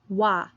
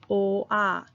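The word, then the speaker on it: 와: We're going to pronounce the black in 1 syllable. So we say wa. We don't say o-ah.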